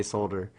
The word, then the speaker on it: solder: You're supposed to say the L, I guess you're supposed to say solder, but I say solder also.